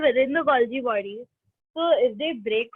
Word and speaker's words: Golgi: Basically, it's Golgi. Or you can say Golgi as well, no problem.